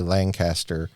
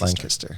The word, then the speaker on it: Lancaster: it from the south I say Lancaster yes you say it wrong that's what I've been told they say it's it's much faster lancast lanaster lanter lanter Lancaster yep and you guys have